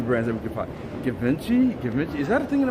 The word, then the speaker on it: Givenchy: It's pronounced Givenchy. Givenchy. Okay. Cool. Givenchy.